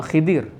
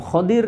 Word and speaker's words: Khidir: seorang nabi yang bernama Khidir ini bisa dibaca Khidir bisa dinamakan header ataupun khodir itu ya Ada beberapa cara baca dan semuanya benar ketika ini ringkasnya Allah